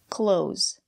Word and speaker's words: clothes: in a plural form let's look at the pronunciation close the th sound is silent we pronounce this word the same way we pronounce close the door close these are clothes